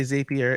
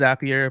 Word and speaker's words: Zapier: you probably knows happier some people say zapier it's zapier makes you happier that's how I remember how to say it uh I'm on the